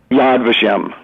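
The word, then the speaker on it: Yad Vashem: the Holocaust Memorial Museum yes how do you pronounce that the national yadvashem yadvashem um is uh Oscar Schindler one of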